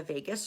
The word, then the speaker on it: vagus: It's called the vagus nerve. And it's not like spelled like Las Vegas. It's VAGUS.